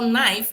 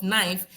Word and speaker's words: knife: the British say that when you want to spell knife it should start with K and the K is silent if the Americans would h had invented the spelling of knife, they wouldn't have started with a K.